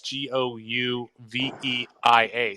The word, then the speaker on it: Gouveia: Actually, the guy that's leading the nation as toughest to strike out is Alex, and I believe you pronounce his name Govea. It's Gouveia.